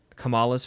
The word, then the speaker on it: Kamala: Kamala's family.